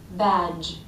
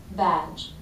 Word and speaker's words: badge: or garage but garage badge very weak unvoiced sound not batch or badge but badge weakening these ending voiced